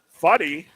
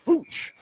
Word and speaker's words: Fooch: Backhanded on net from the near boards by Fuddy. Check that. It says Fooch.